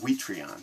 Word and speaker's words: Quithreaun: name is uh well the way they pronounce it on news they say week three on but we would call it witrion that's the way I remember and we though it